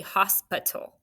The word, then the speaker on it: hospital: I'm confident with the first syllable, hos. Go. H-O-S, right? That's closed. How about p? Really, we say hospital.